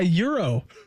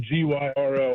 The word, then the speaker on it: gyro: a hero yeah a Euro yeah Euro I think the g is silent I'm I'm very uh I'm very um basic and simple it's spelled g y r o I'm saying gyro how do you say